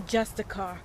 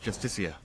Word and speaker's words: Justiciar: He's a Justicar, a Thalmor. It's pronounced Justicia.